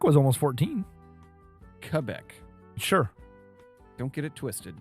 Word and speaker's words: Quebec: Quebec. Sure. Don't get it twisted, you silly American. Yeah, get your Q's in the right spot. Get your, it sounds like a K, not a Q.